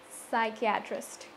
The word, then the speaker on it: psychiatrist: And the last one, psychiatrist.